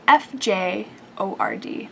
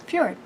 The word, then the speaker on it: fjord: and it's spelled strangely it's spelled f j o r d but it's pronounced fjord so let's try saying